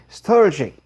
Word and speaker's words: strategic: 그래서 이제 strategy 이렇게 발음하는데 영어에서는 strategic 이렇게 읽더라고요.